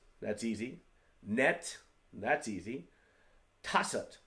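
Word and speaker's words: 다섯: Tassat, that's why I spelled it this way, tas-ut.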